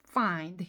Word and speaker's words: find: You find 이렇게 하지 마시라는 얘기예요. 힘 뺀 소리 그래서 이게 제가 강세까지 죽여서 알려드리는 노하우니까 꼭 그렇게 해보세요. You find가 아니라 you find. find는 드 발음 안 나거든요.